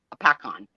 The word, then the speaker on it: Hopatcong: lake Hopatcong that is spelled h-o-p-a-t-o-n-g-hop but it's pronounced apacon that's that's our closest I think Sherry Trish